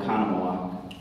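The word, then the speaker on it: Oconomowoc: up in a small town in Wisconsin called okok and they spell it o c o n o m o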